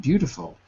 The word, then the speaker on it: beautiful: There's no T. In American English, we say D, not a T.